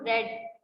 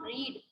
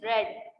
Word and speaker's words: read: Okay, this is not read, this is read. You have to pronounce it read because this is the third form of the read.